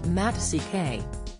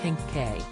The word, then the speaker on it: Hancock: She told her 276,000 followers that the Han part of his surname is silent when pronouncing it. The former Countdown star explained, apparently, to say his name properly, the Han is silent. Who knew? Matt CK.